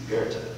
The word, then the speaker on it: Goethe: That's how you pronounce it. Goethe.